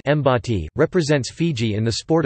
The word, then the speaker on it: Bati: The Fiji National Rugby League team, nicknamed the Batty, pronounced Mbati, represents Fiji in the sport of rugby league football and has been participating in international competition since 1992.